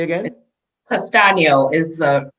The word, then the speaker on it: Castagno: say it just sounds like i'd say it castano say again castano is the pronunciation castano it's sound almost italian though it is italian